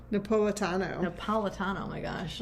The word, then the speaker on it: Napolitano: Napoliato? Napolitano, oh my gosh.